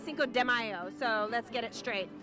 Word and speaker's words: Cinco de Mayo: It's Cinco de Mayo, not Cinco de Mayo, so let's get it straight.